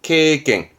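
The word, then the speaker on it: 経験: 발음은 케갱.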